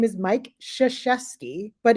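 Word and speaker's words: Krzyzewski: his name is Mike shashesky but his actual name is spelled with KZ because it's polish everybody says his name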